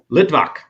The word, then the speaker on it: Litvak: kyle how do you say my last name lidbach yeah but i told you that so anyways